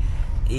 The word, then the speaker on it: Botman: Miguel, gracias por invitarnos al famoso Butman o cómo le dicen. Botman. Botman. Botman. Ese es el así se pronuncia.